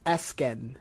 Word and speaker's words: Esquen: I Is it Esquin? I've heard all variations of it. You're close. The U is silent, so it's Esken.